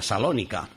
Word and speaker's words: Salónica: ciudad moderna de Tesalónica, que hoy es salónica, se le quita la la primera sílaba T, que en griego pues es precisamente así hoy día, salónica.